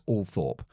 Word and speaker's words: Althorp: By the way, I think you're supposed to say Althorp. People have been telling me off saying it's Althorp, but it's spelled Althorp, but I believe that you're supposed to say, if you're posh, you say Althorp. You're supposed to swallow it because posh people are weird.